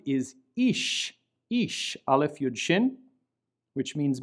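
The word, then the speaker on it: אִישׁ: The word on the right is ish, aleph yud shin, which means man. Since the dot is to the right, we give it an SH sound, and we represent that with an S having a caret on top.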